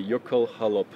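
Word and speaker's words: jökulhlaup: you actually it's a you have an l an h and an l and an icelandic person once told me you pronounce every single letter so you really do say yoko halop and the jalap means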